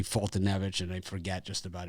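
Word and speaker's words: Foltynewicz: pronounce his name again i falter wits i'll call him or something like that but it's actually fultonevich and i forget just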